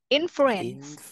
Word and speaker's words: influence: Influence. Yeah. If you read C and E, it's that is silent C like K.